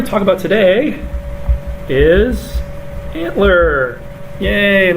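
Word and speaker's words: ANTLR: so we're going to talk about today is antler yay and it's pronounced antler uh this is another tool for language recognition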